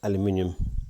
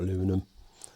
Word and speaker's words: aluminium: It started to erode the aluminium or aluminum, whichever way you want to pronounce it.